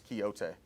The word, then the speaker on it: Quixote: Parsons, it's Quixote, if you want to pronounce it correctly.